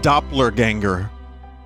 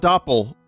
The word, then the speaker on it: Doppler Ganger: name office of mr doppler ganger not doppel doppler like the doppler effect john doppelganger but